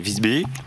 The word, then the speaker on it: Visby: Visby. Pour le prononcer à la suédoise.